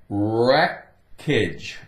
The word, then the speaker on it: wreckage: a package wreckage wreckage take away the W no sound well the W is still going to be there but it's silent wreckage wreck okay if somebody